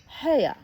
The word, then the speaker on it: Hea: "Hea." He pronounced it so as to rhyme with mayor.